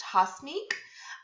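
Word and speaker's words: Hasmik: have mentioned this before my name is pronounced hosmic um yes i'm armenian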